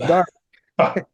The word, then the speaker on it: Derby: for something or actually Darby it was where yes it's spelled derby but it's pronounced Darby and when he was